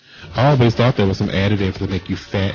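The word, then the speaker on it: Tso: It's like So. General So. Shao. I ain't never met him a day in my life. The T is silent.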